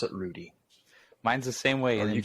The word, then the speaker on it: Rheude: Germany it would be like but but we pronounce it Rudy mine's the same way in Germany or Tutti